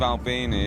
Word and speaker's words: Albini: Now, your new album, I think you work with Steve Albini, is that how you say it? Steve Albini.